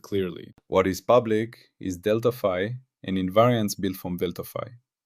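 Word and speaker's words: Δφ: Deltapi pronounced deltafi.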